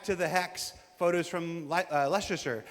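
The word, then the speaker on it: Leicester: Uh, straight out of Klesure back to the hex photos from Lester. How do you say? Is that Leasher? Lester. Lester.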